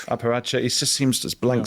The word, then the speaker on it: apparatchik: How do you say that word? Parachik? Apparatchik. Apparatchik.